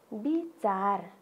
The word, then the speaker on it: विचार: फेरि अर्को शब्द उच्चारण गरौँ त, विचार। के भन्ने भाइ बहिनीहरू? विचार। तर हेर्नुहोस् त लेख्दाखेरि त व लेखिएको छ, तर हामीले उच्चारण गर्दाखेरि चाहिँ ब भनेर उच्चारण गर्नुपर्छ।